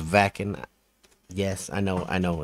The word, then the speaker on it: Wacken: the next one on our within temptation journey whacking open air 2019 sorry i know it's pronounced vacuum yes i know i know don't have to